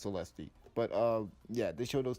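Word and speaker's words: Celeste: I think it's pronounced Celesti.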